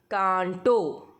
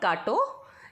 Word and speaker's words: कांटो: The next word is कांटो. इट्स नॉट काटो, इट्स कांटो.